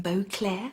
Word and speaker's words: Beauclerk: His name is Topham Beauclair. It's spelled Beauclerk.